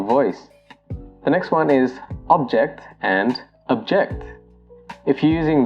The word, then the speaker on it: object: If you're using the noun form of this word, you pronounce it as object. So for example, we were asked to hold the object in our hands. If you're using the verb form of this word, it becomes object.